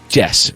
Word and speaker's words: Jes: Now, that is spelled Jes. Jes, right? That's how we would say that in this country. But in Denmark, it's Jes.